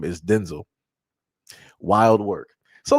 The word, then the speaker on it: Denzel: Like I said, uh Denzel Washington is not pronounced Denzel Washington. It's pronounced Denzel, which is crazy.